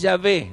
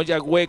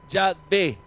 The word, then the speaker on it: Yahvé: Ese nombre, conformado por Yud, Hei, Bat, Hei, letras hebreas, es Yahvé, no Yahweh como se dice en la pronunciación sajona. Yahvé.